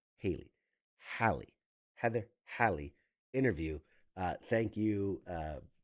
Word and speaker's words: Halley: It's Halley, like valley with an H, Halley. Because I keep like the